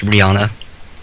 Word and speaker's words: Rihanna: oh they got a song with rihanna it's pronounced rihanna uh she said it herself it was rihanna